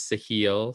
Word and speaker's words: Sahil: But I did look it up, and it is Sahil. So we said it wrong earlier in the episode.